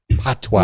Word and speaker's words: patois: It's called patois. Patois. Yeah. See, that sounds French too. French word. It's a French word. It's P-A-T. It's spelled P-A-T-O-I-S, but it's pronounced patois. P-A-T-W-A-H.